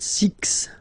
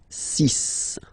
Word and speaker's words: six: be careful here because even if it's ending with this x well you'll have to pronounce it like s okay so you get the sis pronunciation s sis okay so it's not six it's sis all right then here